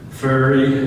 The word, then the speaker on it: Ferrer: Ferry, F-E-R-R-E-R, is pronounced Ferry.